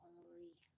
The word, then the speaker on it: Henry: Um, it writes out Henry, but it's pronounced Henri.